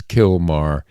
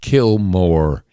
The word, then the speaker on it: Kilmar: And don't start telling me that I'm mispronouncing his name. I know it's Kilmar, but my name for him is Kilmore because that's what he's